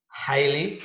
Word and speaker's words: highly: G-nya nggak usah dibaca kalau ada tulisan seperti ini. Jangan sampai dibaca highly ya. Highly, G-nya seolah-olah nggak ada. Jadi mustatir ya. Kalau bahasa bahasa para ustaz, G-nya mustatir, jadi bacanya highly.